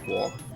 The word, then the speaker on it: Quark: And I just let Google Translate tell me how it's pronounced, and it is pronounced Quark, like exactly like the name, I guess.